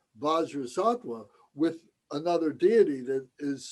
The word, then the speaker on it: Vajrasattva: Bajra Sattva is Vajra Sattva. So sometimes we would say Om Padmasambhava Sattva Samaya. We would replace the name Vajrasattva with another deity that is specific to the practice.